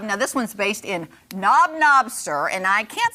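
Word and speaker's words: Knob Noster: Now, this one's based in Knob-Noster, and I can't say that I've ever heard that. Wait, say that Knob-Noster. Knob-Noster.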